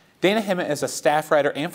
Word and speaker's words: Dayna Himot: favorite pieces is DJ Dayna Himot. Good morning. Very good. You pronounced it correctly. Thank you. I was practicing in the mirror all morning. I was like, Dayna Himot.